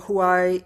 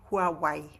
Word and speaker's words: Huawei: You've been a director, worked for Huai. Oh god, I cannot pronounce it correctly. Huawei.